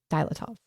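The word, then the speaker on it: Dyatlov: But it's Dilatov Pass. Dilatov. I think it's how they pronounce it.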